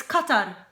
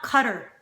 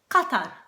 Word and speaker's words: Qatar: the news is uhq it's cutar not cutter like we're going to go to Cutter here on cutter we have cutter here on the map and we're going to talk no we're not calling it cutter it's not cutter it's Qatar isn't that that's not too